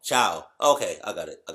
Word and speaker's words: ciao: the spelling of it i'm gonna try to pronounce it before she says it see ca i don't know okay how did she say what wow i was so off ciao okay i got it